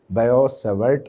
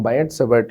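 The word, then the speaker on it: Biot-Savart: This is known as दी बायो-सेवर्ट लॉ। ठीक है, बायट भी बोल सकते हो, टी वैसे साइलेंट होता है उसका, लेकिन बायट-सेवर्ट लॉ ऐसा हम इसको बोल पाएंगे।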